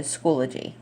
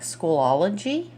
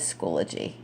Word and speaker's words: Schoology: It looks like Schoolology, but I don't think that's how you pronounce it. So we're going to go with Schoology.